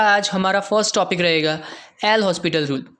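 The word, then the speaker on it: L'Hôpital: हमारा first topic रहेगा एल हॉस्पिटल rule. कई लोग इसको लापिडा रूल से भी प्रोनाउंस करते हैं, तो कोई बात नहीं है, तो प्रोनाउंसिएशन तो जो चाहे मेथड से करिए।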